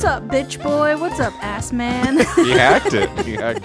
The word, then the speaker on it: Assman: Well, this jolly good Dick's surname is of German origin and is pronounced Assman.